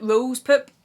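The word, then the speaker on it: Rose Pourpre: love this is poop so if you imagine Rose poop which is how you say it in French I've been saying Rose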